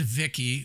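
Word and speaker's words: Vici: V-I-C-I, I pronounce it Vicky.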